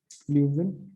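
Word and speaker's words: Leeuwin: अच्छा, वार्म में रह गया ल्यूवियन करंट, है ना, वार्म में ल्यूवियन नहीं लिखा है, ल्यूवियन स्पेलिंग ठीक है, ल्यूविन करंट, ल्यूविन करंट आपका वार्म करंट है, ठीक है।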